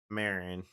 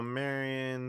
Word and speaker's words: Marion: We got the Illinois 13 that runs down into Marin. Are you correcting me on my pronunciation? Yes. pronunciations. Okay. Yeah. Let's say there's a lot. Oh, Marion.